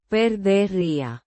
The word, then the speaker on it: perdería: The pronunciation is roughly Per-deh-REE-ah. with the stress on the second syllable.